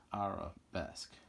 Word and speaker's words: arabesque: Arabesque.